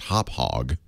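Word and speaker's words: Hauppauge: it's it's actually it's I think I've been told it's pronounced hop hog hog ha p p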